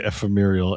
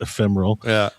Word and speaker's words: ephemeral: No, this is me intentionally mispronouncing because it's it's a thing with me cuz I always say ephemeurial and it's ephemeral.